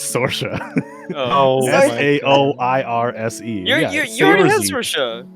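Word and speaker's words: Saoirse: nordverse to take over you don't want to say that word i promise you it's not at all said how it's spelled jesus yeah definitely well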